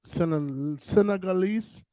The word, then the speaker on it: Senegalese: I had the opportunity to collaborate with a Senegalese.